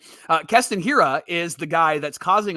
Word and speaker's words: Hiura: A that's causing a big stir it's Carson hurah and I'm just kidding it's well done I had to I had to mispronounce it right uh Kon Hira is the guy that's causing a lot of